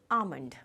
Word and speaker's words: almond: This is the correct pronunciation. It's नॉट आलमंड्स और आलमंड्स, it is almond.